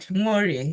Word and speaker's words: Nworie: You tried, Nworie. Yeah, that's good. Nori. All right. I have to pronounce the N. I sometimes thought the N is silent. But anyway, Nori.